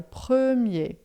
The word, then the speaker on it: premier: Lembrando, a pronúncia de premier é bem fechada aqui, ó. Prer, tá?